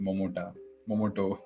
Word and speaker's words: Momota: Our rockstar is saying tomato and potato both rhyme with Momoto.